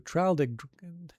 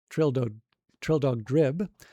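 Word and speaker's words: Traldragdubh: It contained a warrant for conducting me and my retinue to Traldragdub, or Trildogdrib, for it is pronounced both ways as near as I can remember, by a party of 10 horse.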